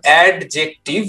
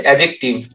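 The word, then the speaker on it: adjective: এটা ছোটবেলায় আমি উচ্চারণ করতাম অ্যাডজেক্টিভ, যেহেতু একটা ডি আছে। যত আমি বড় হলাম পরে শুনলাম যে ডি এর উচ্চারণটা হয়ে যাবে সাইলেন্ট।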